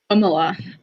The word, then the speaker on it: Kamala: Kamala. One more time? Kamala. Kamala. Yeah, you said it perfectly. You can look it up. Like, look it up on. Well, phonetically, it's more like K-U-M in a sound.